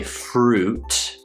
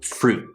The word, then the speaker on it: fruit: poo or food through fruit and then again we don't say fruit we say fruit fruit so that cut off sound yeah so i'm heading toward the t but then i stop fruit this is the